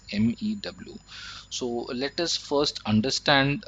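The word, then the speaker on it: μ: So this is a Greek letter and it is pronounced as mu, which is MEW.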